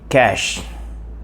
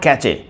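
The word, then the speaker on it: cache: The fifth word is cash. C A C H E. Cash. And some people pronounce this the wrong way. C. K. It is not catchy. It is cash.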